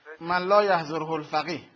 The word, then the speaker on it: من لا یحضره الفقیه: ال مفوضه رو بزنم لا یحضر الفقیه بله من لا یحضره الفقیه عبارت تلفظ صحیحش این هستش یه لحظه بله درست